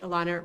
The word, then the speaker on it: Elana: name's Alana Blanchard my my name actually Elana rhymes with iguana if you have I